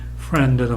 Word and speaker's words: friend: friend도 마찬가지로 friend 하나의 봉우리입니다.